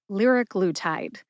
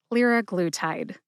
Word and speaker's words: liraglutide: Liraglutide has 4 syllables. Lir, like a Learjet. Which is a short A sound or a schwa A sound. Glue, like that sticky substance we use to stick 2 things together. Glue. And tide, like the ocean tide. Put all 4 syllables together and you get liraglutide. Emphasize lir and glue. Glue gets the most emphasis.